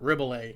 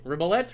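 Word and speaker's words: Rebillet: it's called your new morning alarm by mark ribollay ribelette rebel a i don't know it's spelled r-e-b-i-l-l-e-t that's marco blett's last name he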